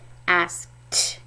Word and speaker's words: asked: is ask ask T you hear that t sound at the end it's actually Ed D the suffix ed has three different sounds D like pulled D or buzzed T like ask T and another one that